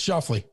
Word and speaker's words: Schauffele: Schauffele? No, it's Schauffele.